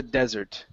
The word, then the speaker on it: desert: Okay, one S, stress goes at the beginning, that's hot, that's hell, it's terribleness. Okay, so let's try this here. For a long time, it was a desert.